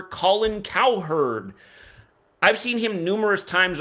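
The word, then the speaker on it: Cowherd: His name sounds like coward. It sounds like an animal herder. Colin cow herd.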